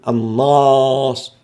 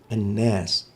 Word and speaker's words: الناس: وكذلك حرف النون، النون حرف ترقيق وبالتالي الألف التي تأتي بعده يجب أن تبقى مرققة، نقول الناس لا نقول الناس، الناس غلط، الناس، النون مرققة والألف التي بعدها تبقى مرققة كذلك.